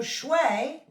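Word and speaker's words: 水: So Shui is water. So this is how we would pronounce water.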